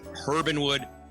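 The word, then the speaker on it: Herb & Wood: juggernaut behind Urbanwood, but we're supposed to pronounce the H, Herbanwood, Herban Sea, Herban Ranch, Anami, which is your Japanese concept.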